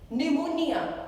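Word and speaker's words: pneumonia: निमोनिया, again it's starting with P लेकिन आवाज निकल रही है न की.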